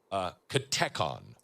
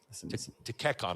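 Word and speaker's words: katechon: Dugin preaches that Russia is the katekon. Tekekon, I think is how you say it in Russian.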